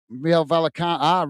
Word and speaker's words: Real Vallecano: Truth is saying, Gaz, it's pronounced Real Vala no. Real Vallecano. Real Vallecano.